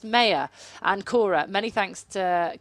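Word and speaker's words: Mair: mayor m-a-i-r we've been pronouncing it ron ken pronounced mayor and cora many thanks to claire for making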